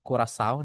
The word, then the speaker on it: Curaçao: Ada Jamaika, Curaçao atau Curaçao dibacanya.